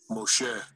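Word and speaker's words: משה: Moshe. Moshe. Moshe. Moshe. This is how you say Moses' name in Hebrew.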